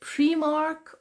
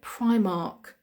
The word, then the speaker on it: Primark: Primark Primark or Primark the correct pronunciation is I I Primark Primark because it's two words together it's Prime which means number one and Mark Prime Mark Primark Primark and it's I think